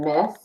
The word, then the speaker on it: Myss: You know, I had just been reading this book by Carolyn Myss, or Mice, I think she pronounced it, M-Y-S-S is her last name, called Anatomy of the Spirit.